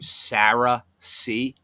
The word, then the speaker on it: cerasee: how you spell it it's pronounced like the name Sarah C right but it's seriously